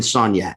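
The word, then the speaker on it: Soniat: was on Ferret and Sognat. So that's like uptown. Yeah. Is that how people say it when they're drunk, or is that the real pronunciation? Yeah, that's how I say it.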